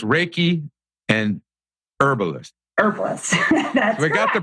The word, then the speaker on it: Reiki: he's an energy healing okay okay so it's Reiki and herbalist got the pronunciation stuff out of the way for us